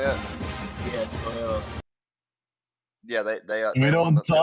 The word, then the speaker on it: Loyola: Yes, Loyola.